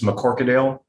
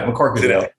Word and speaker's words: McCorquodale: And, the Q throws everyone, and then it's an Anglicization of a Gaelic word, and actually it's a Norse.